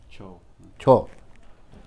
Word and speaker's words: Chhau: हम लोग CHHO कहा, छौ CHHO, छौ नाच होता है।